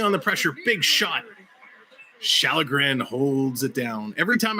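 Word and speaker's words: Källgren: Shallegren holds it down. Every time I see Shallegren, I want to say Callagren so badly, but I know the K is pronounced SH, and it drives me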